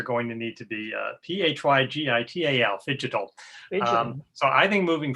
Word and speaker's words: phygital: So meetings are going to need to be P-H-Y-G-I-T-A-L, phygital.